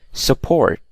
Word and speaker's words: support: So for example, the word excuse, you can clearly see that the stress is on the second syllable and not the first one, okay? Support, okay?